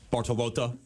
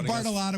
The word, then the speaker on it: Bartolotta: Chef Paul Bartolotta. Yeah, or Bartolotta, whichever, it's fine. I love the real Bartolotta, Bartolotta, whichever.